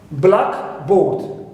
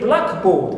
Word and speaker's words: blackboard: like for example blackboard blackboard as one word okay the board used in school okay for writing it's one word one compound compound sorry now we always stress the first part clear which is